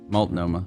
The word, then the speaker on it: Multnomah: Multnomah. No, this is not the South. You say all the letters in this one.